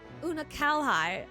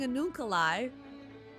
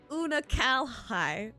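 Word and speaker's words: Unukalhai: Una Kalhai? I've been putting emphasis on the wrong syllable. Una Kalhai. I was saying Anunkalai. Una Kalhai.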